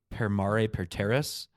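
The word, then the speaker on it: per mare per terras: correctly but probably not pair Mari per Terrace I believe is how it's pronounced which means by sea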